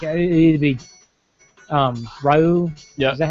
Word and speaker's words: Ryu: Like it'd be Ryu. Yeah. Is that how you say his name? Yeah. Ryu.